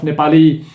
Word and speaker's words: Nepal: funds I'm not here to be elected regiment Nepali gangster yeah there was a famous quote from